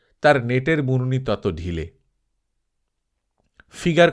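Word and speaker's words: figure: ফিগার কথাটার ফরাসি উচ্চারণ ফিগুর অর্থাৎ মুখের চেহারা।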